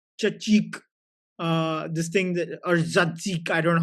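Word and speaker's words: tzatziki: this is yogurt chachik uh this thing or zadzik I don't know how you pronounce it. Chatziki.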